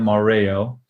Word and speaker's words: Mareo: So my name Mareo is spelled with an E, and my mother pronounces it Mareo, and it's not really a real name.